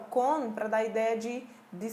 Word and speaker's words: con: E no espanhol eu pronuncio com esse N presente, tá? Eu não oculto esse N ou não faço O nasalizado como normalmente nós fazemos no português com as palavras que terminam em M. Eu vou fazer con. Con. O N é pronunciado, ok?